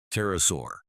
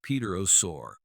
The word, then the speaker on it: pterosaur: First off, the P is silent. So, we don't say Peter Our. The first syllable is just tur.